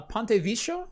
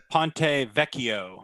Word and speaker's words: Ponte Vecchio: the seven nanometer uh ponte vicio i believe i'm pronouncing that wrong but whatever ponte vecchio ponte vecchio thank you ponte vecchio i i